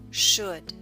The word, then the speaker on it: should: Put should note the L in should is silent.